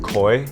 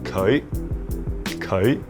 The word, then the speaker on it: 佢: So I kind of imagine it as like saying koi, like the fish koi, and then putting a slight E into it. So it's like koi.